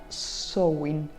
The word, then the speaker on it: Samhain: Eso ahí se pronuncia Samhain.